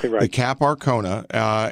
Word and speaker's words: Cap Arcona: this is about the ship known as the cap Arcona is that correct I pronounce it exactly okay your cap Arcona and in essence and I'll let you explain